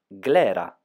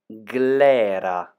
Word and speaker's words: Glera: the Italian grape of today is Clara can you pronounce it Clara